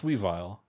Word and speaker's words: Weavile: we not we vile is it Weavile yeah it's Weavile sorry this boy my nose let me look you're good yes it's weave Weevil Weavile I've always just